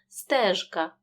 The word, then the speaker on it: стежка: к вимовляємо чітко казка у слові стежка дзвінки ж перед глухим к вимовляємо чітко стежка і в слові горобчик